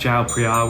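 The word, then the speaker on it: เจ้าพระยา: It's spelled chiao far, but it's actually pronounced jao pri, which is how they write it in Thai.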